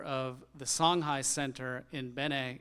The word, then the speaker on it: Benin: the Songhai Centre in Benin in West Africa, or Benin as many English speakers pronounce the name.